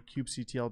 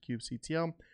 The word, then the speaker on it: kubectl: using the kubectl CLI, however you pronounce it, I pronounce it kubectl, K9s is a tool that just makes it a little bit easier.